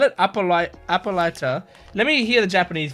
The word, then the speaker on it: Hippolyta: Hippolyta. Okay. Where do I write that? I write that here. So it's got it's spelled hippo and then lighter.